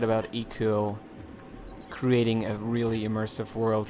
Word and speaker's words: Ico: feel about Eco and it's not ieko I sometimes do still go out and say ieko for whatever reason I don't know that's like my initial pronunciation when I first started looking into the games but it's Eco supposedly uh um now what